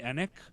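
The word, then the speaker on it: Enigk: I've been listening to a ton of, I can never say his name right, and I looked up how to say it, and it was one of those weird phonetic things. Jeremy Enick.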